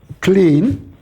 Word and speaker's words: Klein: Well, that's again, in Russian, of course, we pronounce German I as clean. Well, the Americans would prefer Klein, I think. How would you pronounce that? I would pronounce it Klein.